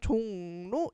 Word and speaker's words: 종로: 일단 종로 얘는 기억을 해야 돼. 종로 선생님이 지금 발음하고 있는 거 잘 들리나요?이 녀석은요? 종로 니은 발음을 하는 비음화가 일어나는 얘 기억을 해야 되고 그럼 3번에도 자연스럽게 종로 있으니까 3번 일단 제낄게요.